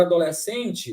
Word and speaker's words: adolescente: separam tudo bem agora adolescente o SC separa só que na pronúncia SC tem som de s é um dígrafo é